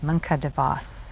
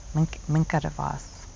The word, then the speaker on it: Minke de Vos: Arts for Women by Minke, I'm not going to say her name wrong, Minke, that's right, Minke de Vos. Minke de Vos.